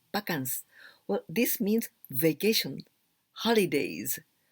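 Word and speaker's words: バカンス: we can write like this vacance anyway we pronounce pakans well this means vacation holidays well we've got a word japanese word yasumi for holidays or vacations but also we've got this word bakans pakansni prasekinas like this pakans well this origin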